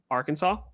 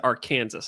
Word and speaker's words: Arkansas: from Arkansas. Yep. I almost said Arc Kansas. I'm like, that's not the correct pronunciation.